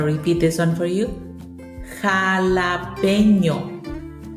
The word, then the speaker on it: jalapeño: I've also heard it be a little bit problematic to pronounce, so I'm going to repeat this one for you. Jalapeño. Jalapeño. Jalapeño.